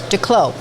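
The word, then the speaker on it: Desclos: Declos. Mm-hmm. The S is silent.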